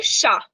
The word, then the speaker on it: chat: Now, this one means CH को ना हम, if there is CHAT, which means a cat, तो हम उसे बोलते हैं शा. शा. Okay. CHAT is called as शा. तो CHIEN को कैसे pronounce करेंगे हम? Chien. Shia. Because no. CHAT को हम pronounce करते हैं शा. तो sh का sound है ना. So this tells us that CH has the sound of sh.